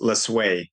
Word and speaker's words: Lesue: Our our last name is spelled l is lu um l sue e and pronounced lue.